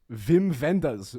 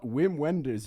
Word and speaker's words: Wim Wenders: It's pronounced Wim Wenders, not Wim Wenders, you Philistines.